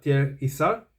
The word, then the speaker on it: Thiers-Issard: la casa tierre yzar Esta es la pronunciación un poco que más se acerca a la pronunciación natural en francés Es algo así como tierra Isa pero pues es un poquito difícil de pronunciar si uno está pensando con el switch de la cabeza en español pero bien Este voy